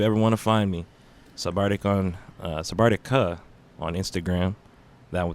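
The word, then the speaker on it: SVB4RCTIC!: So if you're looking for that, it's going to be pronounced Sabardic, but it's not spelled that way because I wanted to be different.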